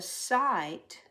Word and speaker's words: sight: The sight of the kite in flight was nice. Spelled with a Y, I-G-H because the G-H is silent.